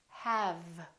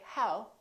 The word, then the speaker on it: have: of air and say have have the common mistake is that some people don't use the lower lip and they round their lips instead and they say how instead of have have the other mistake is